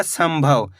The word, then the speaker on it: संभव: जैसे कि यहां पे देखो सम अनुस्वार की मात्रा सम भ व तो मिलकर बन जाएगा संभव। यहां पे भी अपन ने आधा म का उच्चारण करा है।